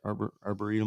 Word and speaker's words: arboretum: Arboretum. Arboretum, yeah. Yeah, it's still kind of you can drive up there just a little ways and it's closed Yeah. still. Yeah. We went to the Arboretum on Mother's Day.